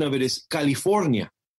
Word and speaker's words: California: that the state I landed on, the correct pronunciation of it is California.